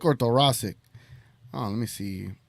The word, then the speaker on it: thoracic: on we're all going to learn how you pronounce this uh this weird ass injury here we go uh thoracic thoracic let's slow it down thoracic thoracic thoracic